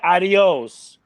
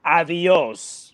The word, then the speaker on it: Avios: to understand adios no you don't say adios you can't just pronounce the word like it just ronald's is avios oh i'm sorry because it's spelled incorrectly no it's not spelled incorrectly that's how you pronounce it damn it hey we're